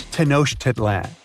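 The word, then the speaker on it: Tenochtitlan: It's Tenosh Titlan. And Mayan cities are hard to pronounce too.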